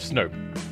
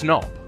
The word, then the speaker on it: Snop: And Mal, you're the only person who says Snop instead of Snoop. Well, there's one O, so it's Snop. So I say it like synoptic.